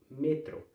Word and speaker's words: metro: Então você vai pegar o metro. Metro, metrô, metro. Primeira é a forte nessa daí.